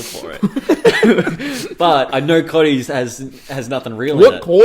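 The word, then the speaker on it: Cottee's: first product we've got is Colts. Is that how you say it? Cotties, I guess. COTTEES. Yeah, Cotties.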